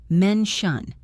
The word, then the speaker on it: mention: Listen to the t sound in mention. It sounds like shush. Men shun.